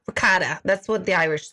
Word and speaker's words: ricotta: Oh, with regatta. I don't say it right. Ricotta.